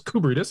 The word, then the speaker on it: Koubridis: Koubridis. Did I say it right? Oh, it's pretty close. Koubridis, yeah.